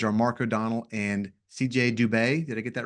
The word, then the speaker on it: Dubé: Your co-authors are Mark O'Donnell and CJ Dubé. Did I get that right, pronunciation?